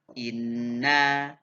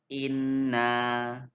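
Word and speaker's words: إِنَّ: Nah, tajwidnya yakni adalah nun tasdid ditekan dengung bacanya 1,5 alif. Ustaz contohkan inna sama dengan inna.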